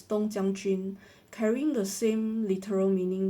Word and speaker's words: 冬将军: Um, in Chinese these same characters are pronounced as Dong Jiang Jun, carrying the same literal meaning winter general.